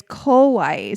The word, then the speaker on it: kowai: I was trying to say your coffee shop is cute, which is kawaii. Scary is kowai. So, pronunciation matters.